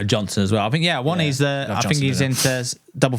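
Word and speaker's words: Awoniyi: It is Awani. Awani.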